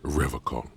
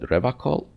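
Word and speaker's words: Revachol: He pronounces Revacol with a hard K, unlike other people. I noticed that. So, you said Revacol?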